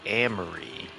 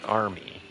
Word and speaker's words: Amory: Our biggest super chat ever came from uh a person called Amory, not Army. Everybody always mispronounces the name Armory. Amory. It's not Army, it's Amory.